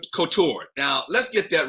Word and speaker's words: Couture: You want to go to France and try and pronounce it in a French way, but couture is usually how most people in our country say it.